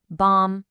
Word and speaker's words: bomb: On the left, if M is followed by B, the B is silent. Bomb, climb, comb.